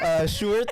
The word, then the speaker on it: Sjoerd: No, the Dutch name, the Dutch way of pronouncing George sounds like Sjoerd, like George.